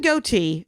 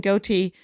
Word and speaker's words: Gootee: Kevin Gootee, and that's how you pronounce his name, Kevin Gootee, as he said, the thing I will never grow.